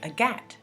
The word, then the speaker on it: Agathe: So in French, it's spelled Agatha, like in English, but they don't say Agatha, they say Agathe.